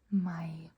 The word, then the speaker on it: meg: We make the J sound in jeg, deg, meg.